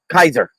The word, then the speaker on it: Kaiser: called himself the Zar called himself Kaiser as in the the more correct, less anglicized version of how you pronounce Caesar.